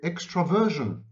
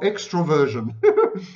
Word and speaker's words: extraversion: Okay, what does gregariousness have to do with extraversion, or extroversion, as it is often mispronounced?